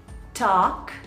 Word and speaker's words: talk: é conversar falar conversar a pronúncia certa dele é Talk Talk por mais que a gente veja escrito a e o l a gente tem aquela inclinação de falar Talk né gente mas essa combinação